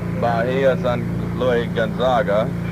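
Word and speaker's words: Bahía San Luis Gonzaga: We about 1 mile this side of Bahia San Luis Gonzaga.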